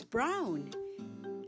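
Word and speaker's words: braun: Brown in German. It's brown. Spelled B R A U N. So easy to remember. Just like in English, the same pronunciation.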